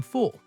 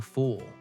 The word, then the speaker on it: full: Instead of saying I am full with a short u sound, I said no thank you. I am a fool.